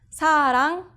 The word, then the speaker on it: 사랑: Listen to what happens when it comes after the vowel. 사랑, love. 선생님, teacher. It becomes an NG sound.